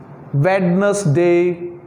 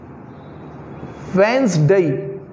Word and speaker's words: Wednesday: one is generally pronounced redness day redness day but here is d it's silent it's Wednesday it's Wednesday it's Wednesday